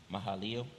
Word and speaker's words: Mahalaleel: How you pronounce that again? Mahalaleel.